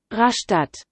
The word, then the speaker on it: Rastatt: unfassbar getriggert von rasta gibt man einem raster aussprache das wird auch nicht auf google seien die deutsche stadt rast aussprache es ist wirklich so dass sie gibt rastatt aha rastatt außerdem was ist das was